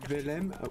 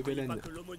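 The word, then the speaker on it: Velen: C'est moi qui entends mal ou tu dis Bethléem au lieu de Belen? Non, je dis Bethléem à mon avis, ouais. Non, t'as pas un problème auditif, je te rassure, c'est peut-être moi qui prononce pas. C'est Belen, hein.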